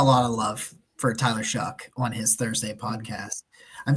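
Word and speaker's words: Shough: of love for Tyler shuck on his Thursday podcast I'm so glad that I listened to that and heard how to pronounce it because I was saying show Sam knows that I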